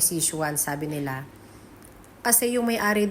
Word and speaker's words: Sze Chuan: Ong kanilang rest R ang tamang pronunciation daw nito ay si shuan sabi nila kasi yung